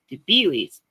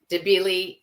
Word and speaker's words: Debilis: Debeil, the S is silent.